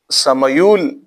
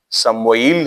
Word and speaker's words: سمویل: مذکور کړی دی، دا د سمیول یا سمویول په نوم باندې یو پیغمبر دی، سیم میم واو او یا لام، سمیول، سمویل هم تلفظ سره ویل کیږي.